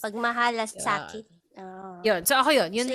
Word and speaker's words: Pagmahalasakit: And mahirap siyang i-pronounce. Pagmahalasakit. with T, yes. Yeah. Pagmahalasakit.